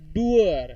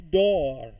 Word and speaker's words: door: teacher then door sometimes the student says that doer it's not doer it's door a sister teacher doctor